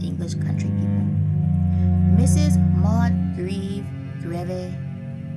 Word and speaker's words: Grieve: Maud Greve, I'm not trying to spell how to say that. It is spelled, her name is spelled Grieve.